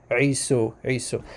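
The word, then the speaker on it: عيسى: believe that Isa comes, I'm going to use the Arabic pronunciation for the brother of Jacob, Isu or Isa, okay? The Arabic pronunciation, Isu. So what he was saying was that that the name Isa in Arabic starts with the letter Ain, which is this guttural sound from like the throat.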